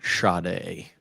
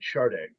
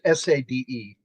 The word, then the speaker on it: Sade: Yeah, Sade, but it's pronounced Sade. And some people pronounce it Sade, which I don't know why. It's Sade, but it's, she pronounced it on an interview with MTV, and it was Sade.